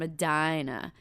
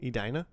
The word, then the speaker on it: Edina: the Cake Eaters, which are those people from Adina. Now you saying like that cuz that's how you say it. Edina.